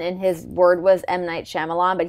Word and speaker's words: Shyamalan: his word was might Shyamalan, but he like didn't know how to say his name. And he's like, "Might Shima." He just kept saying it wrong.